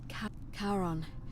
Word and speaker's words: Charon: Only your pronunciation is a little off. The name you heard, it was C-H-A-R... Charon, who in exchange for the right...